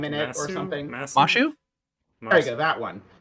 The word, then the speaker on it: Masyu: it's pronounced Mashu, so that's how I've Interesting.